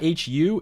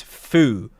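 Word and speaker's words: ふ: It's not hu. It's fu. Like mount fuji fu.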